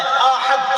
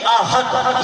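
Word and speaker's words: أحد: اب احد الف ہے، حمزہ ہے، ہا حلوائی والا ہا ہے اور دال ہے. احد اس کا معنی ہے ایک، واحد، یکتا، ایک. اور ایک ہے ہا کے ساتھ پڑھیں احد، یعنی الف ہے اور دو آنکھوں والی ہا ہو اور دال اس کے ساتھ پڑھیں یعنی احد، یہ تلفظ کریں تو اس کا معنی بنتا ہے ذلت والا.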